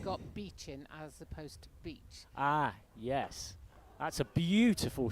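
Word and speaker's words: Beech: One is spelt B-E-E-C-H, and one is spelt beach as in we go to the beach. They're both pronounced the same.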